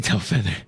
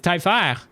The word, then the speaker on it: Telfair: We can all say Telfeather, just fine. Well, that's the thing. That's not how you actually pronounce my name, though. It's Telfair. Telfair.